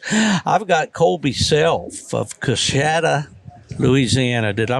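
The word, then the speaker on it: Coushatta: I've got Colby Self of Coshada, Louisiana. Did I pronounce that right, Colby?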